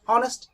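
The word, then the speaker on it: honest: দ্বিতীয় সেন্টেন্সটি দেখো, হি is dash অনেস্ট ম্যান। এখানে দেখো এইচটা সাইলেন্ট হয়ে গেছে এবং শুরুতে অ ব্যবহার হচ্ছে, অর্থাৎ অটা সাধারণত ভাওয়েল বা ব্যঞ্জন বর্ণের হয়ে থাকে।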